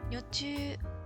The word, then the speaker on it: 女中: 一応ね、女中、ちゃんと公式の、あ